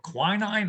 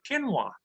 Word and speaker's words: quinoa: And the latest superfood to hit my table is something called quinoa, or quinine. I'm not exactly sure, but my wife says, Bruce, it's called quinoa. I said, if I can't